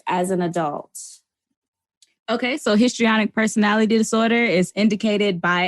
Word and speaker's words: histrionic: you off but you the historonic is that what is that what am I saying it right histrionic yeah histrionic could you do you